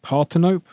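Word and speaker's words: Parthenope: The pronunciation is Partinope.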